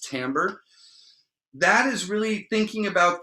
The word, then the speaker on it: timbre: is timbre and timbre it looks like timber it's a french word it's pronounced timbre that is really thinking